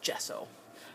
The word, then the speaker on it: gesso: who always bugs me sometimes I say gesso and I know that's not right it's gesso so I got to learn